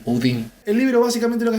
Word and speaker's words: Houdin: Decime cómo se dice en francés. Houdin. Houdin. No lo voy a decir así, obviamente. Así que va a ser Robert Houdin.